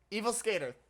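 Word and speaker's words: Evilsk8r: How do you pronounce it? Evil Skater.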